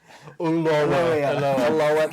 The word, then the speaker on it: Ulloa: But it's not spelt like that, so therefore it's not the pronunciation. I don't care. Ulloa. There you go. Ulloa.